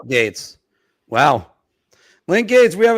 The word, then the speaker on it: Gaetz: Okay, how do I spell it? Gaetz. Yeah, Link there you go. Gates.